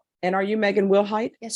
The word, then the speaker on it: Wilhight: And are you Megan Wilhight? Yes, ma'am. Am I pronouncing your last name correctly? Yes, ma'am. Will height?